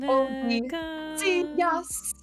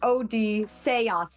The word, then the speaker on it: Odysseus: Although I gotta say, Odysseus. So good. Or Odysseus. That's how it's originally pronounced. Yeah, that's how they because it's very Latin. They like Latin because it's like Polyphemus. It's like very Latinized specifically.